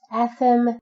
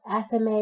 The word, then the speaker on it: athame: It is pronounced athem in the Creed simply for poetic flow, but in general, you're going to hear it called athame or athame.